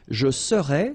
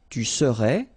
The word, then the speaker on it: serais: Je serais, same thing here, final S not pronounced. Tu serais, final S not pronounced.